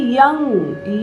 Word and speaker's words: यं: पर बिंदी देना, और इसका उच्चारण है यंग, या, और ये अंग है ना।